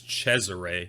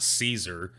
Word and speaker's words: Cesare: he's referencing he pronounces he's pronouncing it wrong but it's cesare it's not caesar borgia it's cesare but